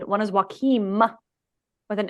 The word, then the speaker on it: Joachim: So one is Joaquin, one is Joachim with an N to an like. So the original was Joaquin, like Joaquin Phoenix, spelled the same way. The second one is Joachim, as in spelt differently, Joachim.